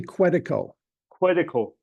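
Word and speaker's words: Quetico: Well, it's it's actually quite quico. Okay. Quitico.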